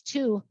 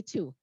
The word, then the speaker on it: two: But we don't pronounce twu. It's too hard to say that. And so it's spelled like 12 and 20 and twin, but we can't say twu very well, so we say two.